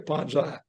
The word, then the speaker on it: Ponzi: ponzas scheme Ponzi scheme which way is it Ponzi or ponzai either one is actually correct e okay that's all whether you're an American or Italian I guess now you pronounce it that's yeah that's what